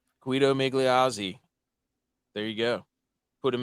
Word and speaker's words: Migliozzi: Migliozzi. Guido Migliozzi.